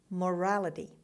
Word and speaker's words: morality: Morality. Morality. The stress is on the second syllable, on R.